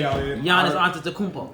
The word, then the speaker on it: Giannis Antetokounmpo: I just learned out how to say Giannis Antetokounmpo.